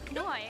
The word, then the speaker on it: Noi: M-O-Y. That rhymes with my first name, Noy.